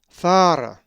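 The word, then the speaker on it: Θάρα: A Greek word that has the uppercase theta is thara, which is the name Terra and is number 2291. The accent is over the first alpha, thara.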